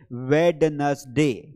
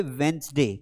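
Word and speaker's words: Wednesday: कई सारे लोग यहां पर इस डी को प्रोनाउंस करते हैं जबकि ये डी साइलेंट है। आप में से कई लोग इसे बोलेंगे वेडनसडे। क्या बोलेंगे? वेडनसडे। लेकिन ये वेडनसडे नहीं है, इसको हम पढ़ेंगे वेंसडे।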